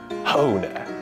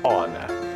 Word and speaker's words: honor: 荣誉，它不会念成 honor，它是 honor，诚实 honest。H 就是不发音